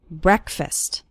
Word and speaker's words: breakfast: with an a sound it's not like the word break it's like bre breakfast or listen to an